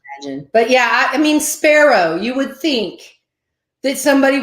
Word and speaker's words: Sparrow: c start with f sparrow the bird is spelled like that the same yes and i'll say sparrow like the bird they still though oh